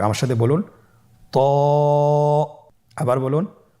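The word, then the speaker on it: ط: তো হরফটি মোটা হরফ, এটা উচ্চারণের সময় অবশ্যই মোটা করতে হবে এবং উচ্চারণ করার সময় 1 আলিফ টেনে পড়তে হবে। আমার সাথে বলুন ত।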